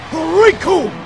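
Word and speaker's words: Recoome: The name's Riku, and it rhymes with doom, and you're gonna be hurting all too soon!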